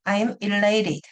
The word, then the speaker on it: elated: 근데 제가 관찰한 바에 의하면 E로 시작합니다. E. I'm elated. 잘 안 들려요. 앞에가 E가 related가 강세가 있기 때문에 E-L-A-T-E-D. I'm elated. 이렇게 발음합니다.